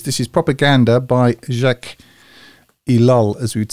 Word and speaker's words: Ellul: introduction to this this is propaganda by Jacques ilal as we'd say in English as they would